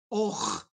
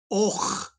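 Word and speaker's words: 'och: People ask me sometimes, how do I pronounce a stop at the beginning of a word? I haven't said anything. What do? The secret is you just close your throat.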